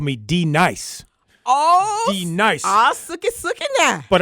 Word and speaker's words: D-Nice: was going to say, that would D-Nice. translate to Denise, wouldn't it? Yeah, it would. Denise. All right, Denise. I remember that, the classroom sketch. Say it right. D-Nice. D-Nice. That's not your name.